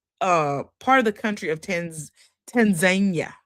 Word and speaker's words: Tanzania: of the country of Tanzania is what they pronounce it in. We were over there saying Tanzania, and they was like, it's Tanzania.